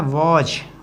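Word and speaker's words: was: लिए क्या आता है वज वज इसको बाज मत बोला करो वज बोला करो इसका उच्चारण थोड़ा वॉज है बोलते हैं ठीक है तो वाज नहीं बोलते दैट वाज उसके बाद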